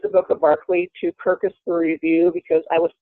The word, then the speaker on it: Kirkus: let's start with Kirkus is that am i pronouncing it correctly Kirkus yes Oh Curtis Awards is it perfect magazines